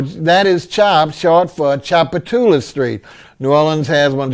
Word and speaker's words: Tchoupitoulas: that name well that is chopped short for Tchoupitoulas Street New Orleans has one just like we mentioned the Tchoupitoulas Indians we have a phenomenal street that runs from downtown all the way uptown called Tchoupitoulas TCH oup i tou la s that's a